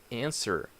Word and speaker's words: answer: the K knife another silent letter answer answer so you do not plan out to W the W is not pronounced answer okay another silent